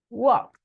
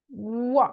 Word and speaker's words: walked: Imagine that the letter E is not there. So the pronunciation is walked. Walked.